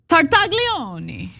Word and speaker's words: Tartaglione: Okay, by the way, we need to pronounce the Italian gentleman's name correctly, okay? It's Tartaglioni. That's his name. He made Epstein an offer that he couldn't refuse. all right. So uh Epstein cellmate, Nicholas Tartaglione, said he discovered the note in July 2019